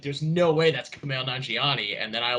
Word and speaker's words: Kumail Nanjiani: There's one character I think we kind of overshadowed besides one reference is I hope I say his name right, Kumai Nyanjiani character, or good old magnetic Jedi.